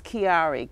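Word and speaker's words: Kiarri: His name is Kiari, K-I-A-R-R-I.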